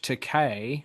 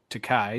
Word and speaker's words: George Takei: we had the legendary George Takei, or Takai, depending on your pronunciation of it, playing Mr.